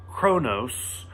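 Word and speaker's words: Qo'noS: the main plot quark ends up going to Chronos is how you say that the Klingon homeworld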